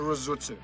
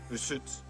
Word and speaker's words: Rusutsu: But we were heading east of Sapporo, about a 90-minute drive to Rusutsu. That's the English pronunciation. The Japanese call it Rusutsu.